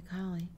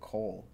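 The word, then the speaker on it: Colle: I've never played the collie. Me neither. Yeah. I don't like the name. Right. Well, apparently the guy's name that's named after, he actually would pronounce it Cole.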